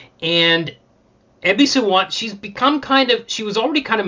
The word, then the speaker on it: Ebisu: I got her name wrong. It's Ebisu. Ebisu, yeah.